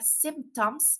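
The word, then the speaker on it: symptoms: un resfriado algunos síntomas la palabra síntomas se pronuncia semtoms y se escribe de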